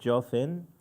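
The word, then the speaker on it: גפן: And the Yemenite pronounced the Gimel with Dagesh like a J, J, and the Kamat underneath as an O. So it's Borei Pri HaJofen.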